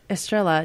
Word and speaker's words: Estrella: I just get the Estrella.